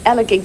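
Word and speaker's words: Elegug: There's Annika's start at Elagig Stacks. It's pronounced gig, I'm reliably told.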